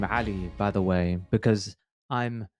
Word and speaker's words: Ali: It's because in Arabic, the name is Ali.